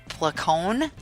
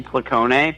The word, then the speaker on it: Placone: extra actions I mean technically technically the correct Italian pronunciation would be pleco nay but you know I don't live in Italy I live in the United States so I flick own